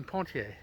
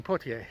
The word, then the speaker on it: Poitier: it's the current home of iconic actor sydney pontier sydney pottier excuse me it's a little difficult for me to to pronounce sometimes anyway the house is up ahead